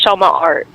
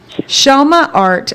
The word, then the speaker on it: Chellemaart: you to um first off say how to pronounce your shop your business how do you say it it's shama art shama art and how did you come up with that